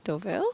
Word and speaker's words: Deauville: We had a Chantilly practice pronunciation yesterday. Deauville. Deauville, yeah.